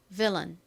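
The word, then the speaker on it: villain: Ven 좋습니다. 자, 같이 한번 팬 들고 적어 볼게요. 부분은 V, I, L, L이고요. 뒤에 원래는 보통 A 소리 나지만이 단어에서는 어 소리로 쓰인 AI가 옵니다.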